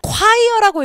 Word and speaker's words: choir: choir라고 읽으셔야 됩니다.